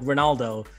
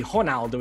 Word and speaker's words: Ronaldo: name it would be honaldo in portuguese the r is pronounced like an h but but that's okay